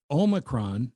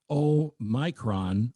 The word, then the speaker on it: Omicron: The correct pronunciation according to many scholarly experts that don't include me is omacron, not omicron or omicron. It's o m yron but the emphasis on the o.